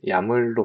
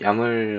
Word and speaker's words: YAML: 한국에서는 주로 이제 야물로 발음을 하기 때문에 앞으로도 야물이라고 발음을 하겠습니다. 그, 이 야물 같은 경우에는 어, 들여쓰기를 통해서 이제 값을 구문을 하게 됩니다.